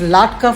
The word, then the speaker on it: latke: So it's latka for singular, latkes for plural.